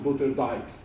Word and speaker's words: Sloterdijk: Se escreve Peter Sloterdijk. Na verdade, se pronuncia Peter Sloterdijk. Alemão.